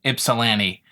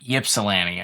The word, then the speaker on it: Ypsilanti: To everyone that's watching this outside of the southeast side of the state, yes, it's pronounced Ypsilanti, not Ypsilanti.